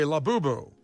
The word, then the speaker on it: Labubu: I'm not The in Labubu market.